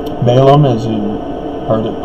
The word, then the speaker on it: Balaam: Jawbone, remember Baalam? Balaam, as you heard it pronounced.